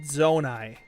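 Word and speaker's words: Zonai: Nutty fam says Naomi, it's pronounced zonae.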